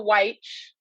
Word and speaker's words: Wyche: I'm a Wyche. That's how you say it. So it's YCH, yeah.